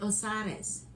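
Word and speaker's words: Osires: You pronounce it Osiris. Osiris in Brazil, Osiris here.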